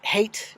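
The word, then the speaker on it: Haidt: some other approaches uh This Hate is how I pronounce it h-a-i-d-t the name of the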